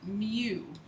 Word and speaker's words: mu: It's pronounced mu, M-U, okay?